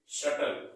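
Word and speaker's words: subtle: हमारा इसको क्या पढ़ेंगे इसको हम पढ़ेंगे शटल क्या पढ़ेंगे शटल यहां पर बी बीच में आराम बट ये भी साइलेंट है क्या पढ़ने के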